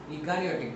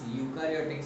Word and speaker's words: eukaryotic: So now organisms which have nuclear membrane are called eukaryotic cells. Eukaryotic cells. It's U. E is silent. It's eukaryotic cells.